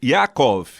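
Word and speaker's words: יעקב: O termo Yaakov é assim que se pronuncia em hebraico.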